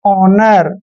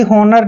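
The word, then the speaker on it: honour: समझाता हूं जैसे इस एच ओ एन ओ यू आर ओ से पहले एच आया है तो एच का यूज हमें करना ही नहीं है यानी कि एच साइलेंट रहेगा इसको पढ़ते हैं हम सीधा ओनर कभी भी होनर नहीं पढ़ते हैं ओनर पढ़ते हैं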